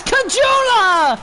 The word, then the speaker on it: Kajula: Kajula, 4-1. He just went right to the net off that rebound. They say his name wrong, but it's kind of Kagula.